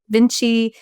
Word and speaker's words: VNCCII: Vinci was inspired by Leonardo da Vinci, but it's spelled different, VNCCII.